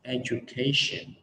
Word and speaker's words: education: Thì cái lỗi của mọi người khi mà phát âm cái từ education này là mọi người hay đọc là education đó. Thì cái này nó sai ở hai chỗ. Cái thứ nhất là thường là mọi người sai cái âm j thành âm d đó, mình